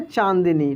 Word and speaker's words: चांदनी: इसमें यानी नाक से उच्चारण होता है, तो इसको हम लोग पढ़ेंगे चांदनी, ठीक है।